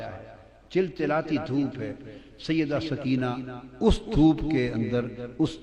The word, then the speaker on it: سکینہ: جگر شہزادی سیدہ سکینہ، اصل نام ان کا عربی وزن میں سکینہ ہے، عرف عام میں سکینہ چلتا ہے، اصل لفظ سکینہ۔ سیدہ، میں عرف عام کا لفظ استعمال کروں گا، تلفظ بتا دیں، سکینہ، سیدہ سکینہ، سیدہ سکینہ۔ دھوپ میں